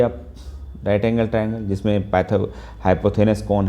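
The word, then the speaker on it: hypotenuse: तो theta 90 degree सामने वाली हमेशा हाइपोथेनस होती है, ठीक है, जिसको एच बोलते हो। हाइपोथेनस कुछ लोग हाइपोटेनियस बोलते हैं, बट ये फॉरेन लैंग्वेज जो प्रोनाउंसिएशन है वो हाइपोथेनस बोलते हैं, इसलिए आप कुछ लोग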